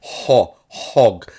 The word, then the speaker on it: Hogwarts: And then people get It literally says hog. It's an O. Hog. And he says Hogwarts. There's no AH. It's not spelled HAHG, waltz. It's spelled hog.